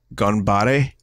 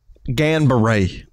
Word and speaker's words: Ganbare: Okay, so I think the next game is Ganbare. Ganbare. Let me say it right. Ganbare Morikawakun. I'm sure I said that perfect. Ganbare. It's almost like how you say buongiorno in Italian.